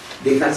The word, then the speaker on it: Descartes: luz foi com decar decar se escreve descarte mas para falar tem que se descartar os ves Então fala dkt lá Tira os dois